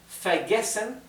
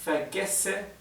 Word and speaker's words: vergesse: Ich vergesse immer. Acá tenemos una doble S. Recuerden que la doble S en alemán se pronuncia como una S suave.